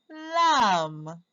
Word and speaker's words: lamb: The B is silent. Lamb.